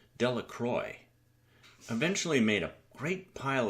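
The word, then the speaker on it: Delacroix: and Harry Jones and Dicky delacroy the villagers pronounced this name delacroy eventually made a great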